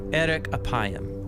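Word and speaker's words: ארך אפים: In Hebrew, the phrase slow to anger is pronounced erek apayim, or literally long of nose.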